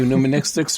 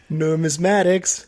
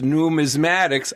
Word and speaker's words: numismatics: Did I say numministics right? Numismatics. Num. See, I'm the worst. Numismatics.